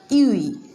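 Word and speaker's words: ewe: This is UE. What is this? This is UE.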